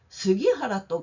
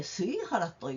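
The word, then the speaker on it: 杉原: 제대로 신경 써야지 너때 스기하라또 가이때 하루자리마생까 스기하라또 카이때 스이하라또 여노사 묘데스네 그래도 스기하라라고 쓰여 있잖아요 스기하라라고 쓰고 쓰이하라라고 읽는 거야 묘하네요 나는 묘어나고 또가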